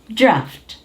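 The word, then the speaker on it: draught: Now this one is AU and this is T. So you pronounce this draft.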